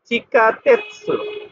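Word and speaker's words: 地下鉄: সুটা কিন্তু বড় তাহলে এখানে সুর উচ্চারণ হবে চিকা তেসু চিকা তেতসু চিকা তেসু মানে হচ্ছে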